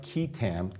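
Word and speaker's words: qui tam: quitam, typically, quitam. And Sounds more Chinese to me, or Asian, but it's Latin. Actually Latin.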